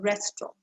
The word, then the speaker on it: restaurant: you don't really hear that sound it's a restaurant what about the third word portal is it